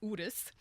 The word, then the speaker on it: Urus: So it's actually Urus. Oh, That's the way it's Urus. properly pronounced.